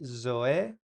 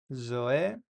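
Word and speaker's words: ζωή: La Z se pronuncia como una Z, pero como electrificada, como como el sonido que hacen algunos insectos. Entonces, aquí, por ejemplo, esto se lee Zoe, Zoe.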